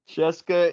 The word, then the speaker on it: CSKA: Cheska and Ephes.